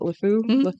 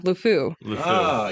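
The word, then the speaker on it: LeFou: has a little sidekick named how do you pronounce it lefu yeah lfu yes yes the you know it's kind of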